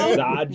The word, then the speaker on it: Zaj: Nodge and It's like Dodge with the Z.